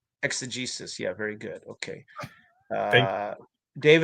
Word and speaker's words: exegesis: Dave, pronunciation is correct. Okay. I'm guessing exegesis. I said exegesis.